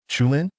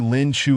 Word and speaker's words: Lin Chu: But if I recall correctly, in Chinese pronunciation, it should be Lin Chu. Lin is the surname. Chu is the given name, with no pause in between.